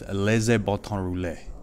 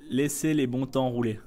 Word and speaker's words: Laissez les bons temps rouler: I probably said it wrong. But that's what that "Laissez le bon." Am I saying it right? Okay, how would you say so I can get it right? Laissez les bons temps rouler.